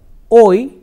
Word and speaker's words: hoy: We shall learn some other temporal expressions here, like hoy is today. You remember that in Spanish alphabet, H is always silent. H is never pronounced. So, when we say H-O-Y, it is hoy. H remains silent.